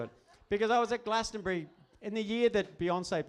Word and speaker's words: Glastonbury: out loud it's Glastonbury it's three syllables Glastonbury it's not that hard anyway he left almost straight away he like he's just so disgusted by your inability to say the name Glastonbury probably he left anyway